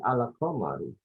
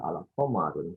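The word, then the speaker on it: القمر: Ya, jadi al-qamaru. Jadi tidak bisa dibaca al-qamarun, tidak mungkin. Ya. Kita bacanya adalah al-qamaru.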